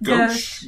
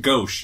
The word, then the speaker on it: gauche: Is gosh the way you pronounce that word? Gauche. Gauche.